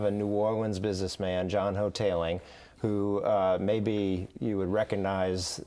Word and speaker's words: Hoteling: Hoteling is the way he pronounces it, John Hoteling II.